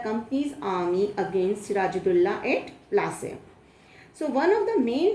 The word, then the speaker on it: Plassey: Because Plassey is an anglicized pronunciation of Palashi, and the place derived